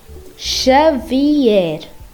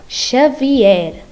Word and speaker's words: Xavier: When X is at the beginning of a phrase, it is pronounced as sh. Xavier, Xavier, Shaila, Shaila.